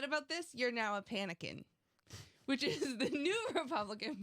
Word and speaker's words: Panican: It's like Republican. Well, I thought it was like Pelican, but you're panicking.